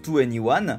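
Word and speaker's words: 2NE1: en to anyone d'ailleurs ce nouveau nom qui se prononce to anyone forme une combinaison des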